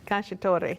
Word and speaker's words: cacciatore: cacciatore yes that's how you say it is cacciatore okay chef I am learning thank you so